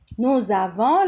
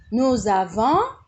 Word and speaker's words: nous avons: ركز بقى، هقول نو افون nous avons لو عملت الوصلة nous avons نطقت الاس زد، ورا حرف متحرك الاس ينطق زد لما يكون وراه حرف متحرك.